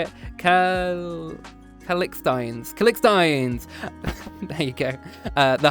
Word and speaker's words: Calixtines: Calixkanites? Hold on. Hold on. How do we say it? Calixtines.